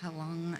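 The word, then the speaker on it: Heilung: listened to a lot of the Nordic bands, like Helong and did I pronounce that correct? I might not have pronounced that correctly. Pronounce that. Helong. I did pronounce it right.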